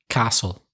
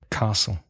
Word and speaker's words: castle: And another common mistake by Spanish speakers, the silent T in Castillo in English. Castle. Mm-hmm. Castle.